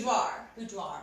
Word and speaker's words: boudoir: So it's boudoir.